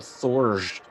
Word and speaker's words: Thjorgt: In the next solar system of 0405, Zamakai, there's a planet called Thorj. Bless you. It's THJORGT. Shorgit? Spell that again.